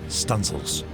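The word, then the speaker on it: studding sail: the stanzel Booms to set studing sails pronounced stanil this was known as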